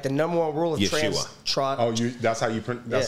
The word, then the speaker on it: Yeshua: like the number one rule of Yeshua. That's how you pronounce.